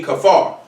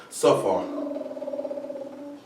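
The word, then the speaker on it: ספר: The word scribe will be kafar. It'll actually be pronounced, my bad, it's pronounced safar.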